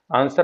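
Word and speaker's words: answer: सा अक्षर मुख है तो सर आंसर हम लोग पढ़ते हैं तो इसमें डब्लू नहीं बोलते हैं हम लोग तो यहां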